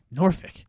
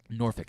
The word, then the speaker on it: Norfolk: I always say Norfolk. Much like the word folks. Yeah. They say Norfolk. Norfolk. That's how they say it.